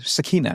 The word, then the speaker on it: sakina: Did you hear how he pronounced sakina? Like sakina, not s you know.